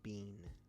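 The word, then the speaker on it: Biehn: the way real quick I just figured out that you pronounced his name Michael Bean so uh cool so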